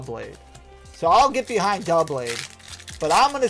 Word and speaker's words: Doublade: Dial blade. It's Doublade.